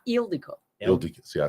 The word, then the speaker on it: Ildiko: Yeah, it's like the pronouncing is on the front part.